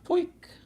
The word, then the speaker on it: POJK: Poik. It's like a weird way to pronounce poke. Poik. Wouldn't it be with an I? No, because he's Canadian. Poik.